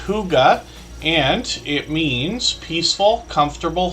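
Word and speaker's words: hygge: few times but hopefully everybody will connect with Huga Homestead uh that's how we pronounce that name h y g g e it's pronounced Huga and it means peaceful comfortable home in Danish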